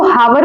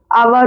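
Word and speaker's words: hour: जैसे ये इसको हावर बोलते हैं कुछ लोग बट हावर नहीं होता। आवर होता है।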